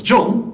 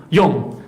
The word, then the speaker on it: John: So his second name is often mispronounced as John by many people, but in fact the correct pronunciation is Young, this Czech mathematician.